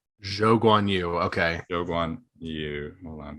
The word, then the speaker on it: Zhou Guanyu: anymore so 15th uh it's pronounced he prefers to go by zhou guanyu jo gwanyu okay yoguan you hold